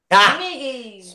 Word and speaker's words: Smiggy: Is that pronounced Smiggy or Smeggy? Yeah. Smiggy.